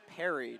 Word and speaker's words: Perry: was just informed that it is pronounced parried number four the running